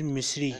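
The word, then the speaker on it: مصري: pitch of the man this is not this is Miss Lee pronounced Miss Lee mean Egyptian tortilla join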